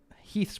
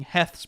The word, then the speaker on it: Heth: back being pressed by mcgowan's brigade and uh heath's brigade moving up here which liam constantly was calling heth's brigade but it's actually pronounced heath and he would actually command ap